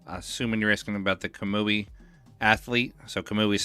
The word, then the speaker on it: Kamui: Chrisman uh I'm assuming you're asking about the kamui athlete so kamui is spelled k a m UI the athlete is